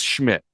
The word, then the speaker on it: Szmyt: It's literally just Schmidt.